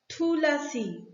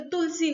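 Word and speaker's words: Thulasi: Story of थूलासी, थूलासी, ऐसे तो हम लोग अगर बंगाली में प्रोनाउंस करेंगे तो तुलसी होगा, लेकिन ये जो है ये साउथ इंडियन प्रोनाउंसिएशन है थूलासी।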